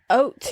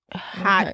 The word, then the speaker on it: haute: fashion world yeah and oat is spelled h a u t e a lot of people pronounce it hot Couture or H Couture but it's O when I typed in